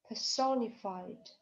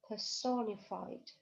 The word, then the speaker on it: personified: Personified. Personified. Это слово образовалось от слова person, человек. Person. Но только в этом слове personified. У нас ударение падает на второй слог.